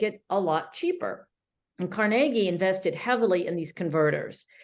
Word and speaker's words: Carnegie: On the far left, that would be Andrew Carnegie, or Carnegie, as it is sometimes pronounced.